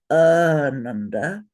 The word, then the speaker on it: Ananda: And the word Ananda, with a long A and two short A's, means bliss. But if you say Ananda, Ananda, all short A's, it means grief.